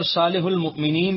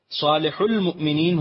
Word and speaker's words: صالح المؤمنین: سے نون گر گیا، صالح المؤمنین ہو گیا، لیکن یہاں واو کا تلفظ نہیں کیا جاتا، اس لیے کاتبان قرآن نے واو کی کتابت بھی ترک کر دی اور صالح